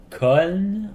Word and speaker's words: Köln: En gros, en Allemagne, Cologne se prononce Köln, ou ben K-O, tréma, L-N.